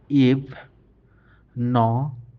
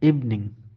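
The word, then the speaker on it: evening: তারপরের উদাহরণটা হচ্ছে ই ফ, ইভ। ন ই এং, নিং, ইভনিং, ইভনিং। অনেক সময় আমরা ইভিনিং বলি, কিন্তু আসলে এর সঠিক উচ্চারণ ইভনিং।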